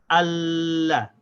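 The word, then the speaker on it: الله: So now I have to connect the alif to the lam. I say al. Then the lam has a fatha, so it gets pronounced la. So I have to say the al and the la without stopping the sound of the lam. We say Allah.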